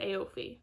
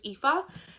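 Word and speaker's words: Aoife: follows Joey and O I almost said AO that's how I used to pronounce her name until I realized it was epha so it follows Joey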